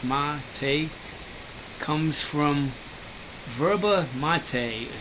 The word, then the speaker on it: mate: the name come from the name mate pronounced ma take comes from verba mate